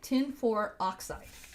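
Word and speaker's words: tin(IV) oxide: you say this well it's tin no parent no space for oxide tin for oxide okay so why is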